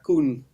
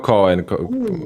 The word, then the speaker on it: Koen: Mi nombre se pronuncia Koen. Koen, no Cohen, como yo Okay.